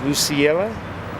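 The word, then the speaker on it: Lucelia: So her name was Lucilla, L-U-C-E-L-I-A. How would you pronounce that? Lucilla? I think you nailed it.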